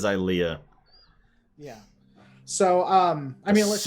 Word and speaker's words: Ilia: I think it's Ilia. It's Ilea. You're right. It is Ilea.